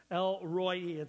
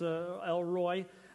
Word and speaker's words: El-Roi: El-Roi. It's spelled R-O-I, but pronounced like Roy, like R-O-Y, then with two E's. Roy-E, kind of, it's El-Roi.